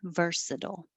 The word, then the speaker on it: versatile: connections besides chair is so i just spelled versadol the way that it sounds versatile i didn't do much